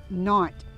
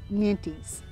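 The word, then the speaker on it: Nantes: it originated not France the S is silent so over there they pronounce this carrot knot however many people in the U.S pronounce it minties you'll get the best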